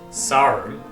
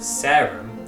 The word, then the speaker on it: Sarum: pronounced the same sarim the distinction between the wiltshire accent way of saying it sarum and the more rp way of saying it serum is partly as a result of the great vowel shift which changed the r to an air and partly because of a general drift in the west country towards vowels being pronounced further forward in the mouth however there is no